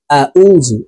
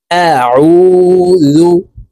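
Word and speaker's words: أَعُوذُ: দর্শক ভুল হবে তারপরে এই শব্দটি এভাবে বলি আউজু এই আইনের উচ্চারণ হামজার উচ্চারণ করে থাকি আইনের মাখরাজ হলকের মধ্যখান থেকে হবে আইনের উচ্চারণ হলকের মধ্যখান থেকে চাপ দিয়ে উচ্চারণ করব এভাবে পড়বো দেখুন আউজু আউজু কুল আউজু কফের উচ্চারণ জিহ্বার গোড়া তার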